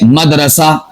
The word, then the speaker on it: مدرسہ: تو یہ غلط ہے۔ اسی طور پر لفظ ہے مدرسہ، مدرسہ، دال ساکن ہے، ہم بول دیتے ہیں